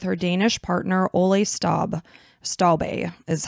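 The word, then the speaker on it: Stobbe: Beijing China with her Danish partner Ole Staub stalbay is how you pronounce it and it was interesting for me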